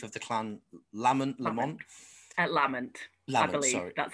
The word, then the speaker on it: Lamont: 18th clan chief of the clan lamont at lament that's how i've been told it's pronounced are there still like clan chiefs and